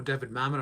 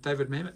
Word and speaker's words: David Mamet: of his name he Herman David Mamet or David Mamet and I'll show you pronounced they always get that name wrong David Mamet David Mamet they head up but they often